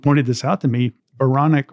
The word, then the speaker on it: Baranek: Well, okay, I'll tell you this, and clever people who are listening, and people have pointed this out to me, Baranek also rhymes with moronic.